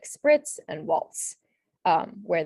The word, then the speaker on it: spritz: And so examples of this are like spritz and waltz, where the S sound is spelled with the TZ.